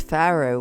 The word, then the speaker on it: farro: TTA de Faro or a pharoh cake that's pharoh which is spelled f a r r o and is